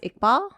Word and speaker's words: Iqbal: amazing and then uh your last name is pronounced iqbal perfect okay yeah perfect all right thanks again